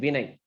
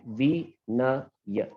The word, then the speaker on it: Vinay: So if I take my name Vinay, like V-na-ya, they are all short syllables.